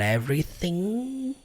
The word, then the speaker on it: everything: forma alguma é que toda palavra que termina com ing, que é o caso aqui da palavra everything, a letra G no final não é pronunciada. Portanto, got everything. Terminando o som do N.